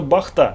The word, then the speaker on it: Бахта: Что интересного в печи Бахта мы сейчас и выясним, кстати, именно Бахта с ударением на последний слог.